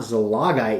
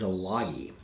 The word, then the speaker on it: Zalagi: This is not Zalagai, it is Zalagi.